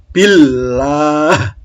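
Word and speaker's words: بالله: berikutnya masih bacaan Allah Kalau sebelum lafal Allah harokat i-cash roh itu bacanya lah Hai Illah Billah Bismillahirohmanirohim Bismillahirohmanirohim bismillahirohmanirohim Waalaikumsalam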